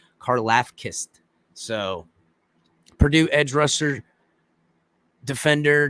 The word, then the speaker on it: Karlaftis: I can't say it because I heard it pronounced, but it's not the actual pronunciation. There's like a Greek sound to it. Karlaftis.